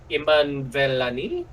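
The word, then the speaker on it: Iman Vellani: So but I do love Iman Velani. Yeah. That's how you pronounce her name.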